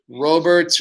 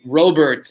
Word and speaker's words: Robert: youth uh reagan luis roberts or kyle lewis uh and technically by the way if you robert is how they pronounce it in cuba i know we're pronouncing